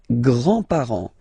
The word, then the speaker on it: grands-parents: Les grands-parents, les grands-parents. Remember, you don't pronounce this final S here.